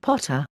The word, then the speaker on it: Pater: Ammon is also Pa, Thor, Jove, and Pater, pronounced Potter.